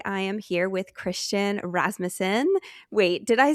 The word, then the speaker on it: Rasmussen: You are here with today and today I am here with Christian Rasmusen.